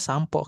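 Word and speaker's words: 散歩: Tapi untuk ee percakapan dia dibacanya sampo kayak kita sampoan.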